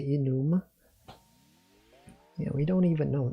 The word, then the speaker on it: enum: going to be state do you all pronounce this thing as enum or enume I specifically say enume because I know it's enumeration So I say enume same thing for like